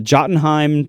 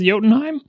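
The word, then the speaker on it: Jotunheim: uh well I'll the the way it's said by Americans is the Jottenheim 2. I believe they're now up to the Jottenheim 3. What Americans say that? No one says Yotenheim.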